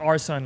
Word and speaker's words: Arson: Um but it's pronounced like our son like I'm my parents son. So that's how it's pronounced our son.